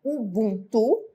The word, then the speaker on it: Ubuntu: que que ela significa Ubuntu pronuncia-se Ubuntu com o agudo né é uma palavra